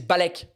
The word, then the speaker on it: balek: And the shortened down version phonetically is balek. Balek. But written out could be spelt like this.